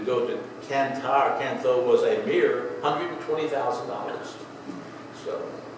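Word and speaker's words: Cần Thơ: But we got to his hometown of Can Tho. I'll just call it that. They call it Can Ta, that's how they would pronounce it.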